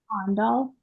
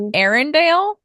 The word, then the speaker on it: Arendal: Arendal. Ondal? No, that's like It's not Arendelle? Arendelle? Arendal. That's how they say Arendelle. That's you said that with a Texan flair. Arendelle. Arendelle. It's Arendal.